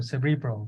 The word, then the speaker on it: cerebral: spinal fluid good so I like that you put the emphasis in the middle cerebral okay so cerebral spinal